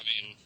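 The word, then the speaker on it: mīn: well it would be mine it would actually pronounced mean but it's spelled mine so mean vosto my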